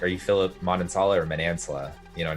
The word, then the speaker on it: Manansala: Yeah, Manansala is like the proper American way, but Manansala is the Filipino take that's on interesting.